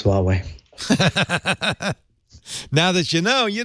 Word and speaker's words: Huawei: It looks like the British phone company has dropped Huawei phones from its 5G network launch lineup.